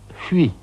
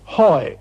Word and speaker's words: Huy: on the Meuse called Huy, H-U-Y. It's a very difficult word to pronounce in English.